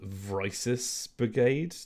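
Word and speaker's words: Crisis VRigade: and there's one called vrysis brigade like crisis but spelt with vr at the front oh god okay uh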